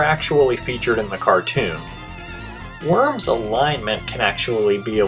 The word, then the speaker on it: Wyrm: say what's up to worm worm spelled with a why not an O only ever appeared in